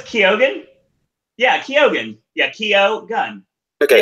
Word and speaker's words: Keoghan: But the thing is Nolan during one of the director talks was saying Barry Keoghan, and it turned out that wasn't the actual pronunciation. I can't remember what he said the actual pronunciation is. It's probably Keoghan. No, it's Keoghan.